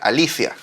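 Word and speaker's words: ἀλήθεια: Ahora, en este pasaje, verdad, lo hemos visto en oportunidades anteriores, verdad es la palabra aletheia, que en realidad en griego se pronuncia Alicia.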